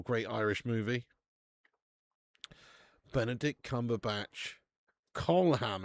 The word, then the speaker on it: Colm: Colam it's pronounced. Are you me? His name's pronounced colam. Colam. Colam. Colam. Meanie. Are you taking a piss? I always thought it was Colm.